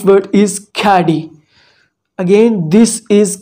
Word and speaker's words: Khaadi: solution of this thing the right word is caddy again this is caddy not khadi or anything it is caddy is it clear